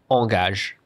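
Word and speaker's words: engagé: And with A and E, like for example, engage something, it's like engage.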